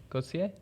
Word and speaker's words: Gauchier: you say it again for me go t go see ya like a Lachlan it's pretty English that you'd